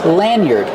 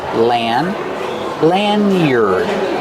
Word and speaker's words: lanyard: Lanyard. Use a short a like hand and man. Lan. Lanyard. Use the sound like bird and word.